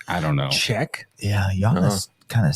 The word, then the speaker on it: Giannis: Yeah, Giannis kind of sounds more of it. You think so? Yeah. Huh. Yeah, I wouldn't I necessarily consider I always want to call him Janice. Janice. Well, that's how it's spelled.